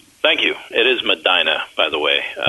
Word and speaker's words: Medina: It is Madina, by the way. Madina. That's like Yeah, that's like it's spelled Bahama here, but it's pronounced Bahama.